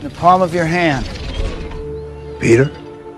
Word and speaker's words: Peter: Por mais que nós pronunciemos no português Peter, no inglês eles falam Peter. E o nome dele, Otto, que é Otto Octavius, o nome dele, é pronunciado em inglês Otto. Otto. Então é tudo com R, gente.